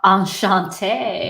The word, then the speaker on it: Enchanté: Enchanté.